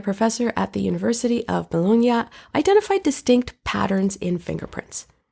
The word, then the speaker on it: Bologna: at the University of Bologna is that how you pronounce Bologna Italy it's not baloney like bologna it's not like that right in Italian you pronounce every letter yeah so did you